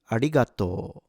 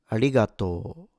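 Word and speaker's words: ありがとう: Ah starts at a low pitch. It goes up onto a higher pitch with ri and then goes down again already at g. The rest is low. A ratoto.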